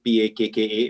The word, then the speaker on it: Pakka: It's spelled P-A-K-K-A, but it is pronounced Pakka, but basically means packaging with a soul.